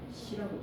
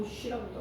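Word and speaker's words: 코시: 호시라고도 하고 호쉬라고도 하고 호시라고도 하고 외국 발음이라서 그 발음입니다.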